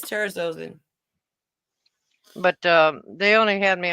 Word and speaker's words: terazosin: Terrazone, it's TERAZOSIN. TERAZ. OSIN. Oh, is it trazodone? Trazocin. Oh, terazozin. Yeah, terazozin. That's what they put me on.